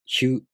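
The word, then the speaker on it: ひゅ: For example, hya, hyu, hyo. These are pronounced with the sh sound plus a, u, o.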